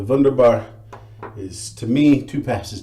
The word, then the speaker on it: Wunderbar: BBS that's what the wonder bar is for me sorry wunderbar I keep pronouncing it the American Way so the vendor bar is to me two